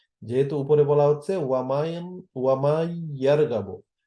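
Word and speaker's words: وَمَنْ يَرْغَبُ: এখান উচ্চারণের ক্ষেত্রেও যেহেতু ইয়া এর উপর তাসদীদ আছে, এই কারণে মান যেটা ছিল সেটা মান উচ্চারণ না হয়ে হবে মাইয়ার গাবো। কেননা নুন উচ্চারিত না হয়ে মিমটা গিয়ে সরাসরি এখানে ইয়াকে ধরে ফেলবে।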